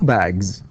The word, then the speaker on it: bags: One bag, two bags. لاحظ ج is voiced, so نقول تنطق الاس تنطق ايش ز، فنقول bags, okay, bags, and one book, two books.